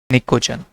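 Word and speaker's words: Pnictogen: निकोजन। P silent रहता है, निकोजन्स। ठीक है, अच्छा सॉरी, निकोजन्स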